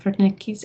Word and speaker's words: Wernicke: contain the Wernicke's area the W is pronounced with a V sound rather than the American W sound so for Nikki's area and so this is